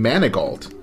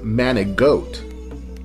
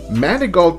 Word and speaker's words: Manigault: that it was a simple mispronunciation of his name manigault some people thought that his name was manic goat some say it was